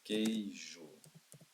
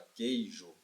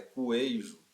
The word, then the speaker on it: queijo: Mas o U é pronunciado na palavra queijo. Por acaso é coejo? O U não é pronunciado na palavra queijo, pessoal.